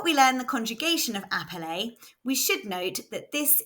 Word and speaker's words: appeler: One L after an E makes the E say and we know that ER is pronounced A, so this word is appeler. Let's hear it again. appeler, This is quite a